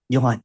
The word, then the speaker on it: Johan: what got you here am I pronouncing your name correctly you Yan okay way okay it's just